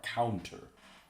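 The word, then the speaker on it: Caunter: C-A-U-N-T-E-R, counter. It's spelled like nothing else.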